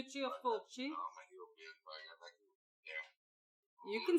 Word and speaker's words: Fulci: Lucio Fulci. Yeah. You can say Fulci. Fulci. You can say that. That's... Right. Full as in I'm full, and chi as in I'm full of cheese.